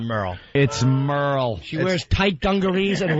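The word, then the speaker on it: Merle: there is no way this is Merl because it's m e r l e it's Merl it's Merl about mer the name is Merl about merly no I I still say it's not Merl it's Merl she wears tight dungar and work boots her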